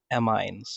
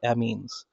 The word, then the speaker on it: amines: For example, amines or amines depends on which part of of the world you actually reside the pronunciation will be different.